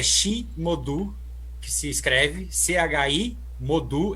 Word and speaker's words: Chi Modu: Eu não sei a pronúncia, mas é Chi Modu, que se escreve CHI Modu, M-O-D-U.